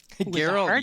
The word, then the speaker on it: Gerald: Gerald, yes. Gerald with the heart G, McCullough.